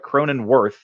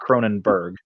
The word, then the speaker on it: Cronenworth: Cronenworth, not Cronenberg.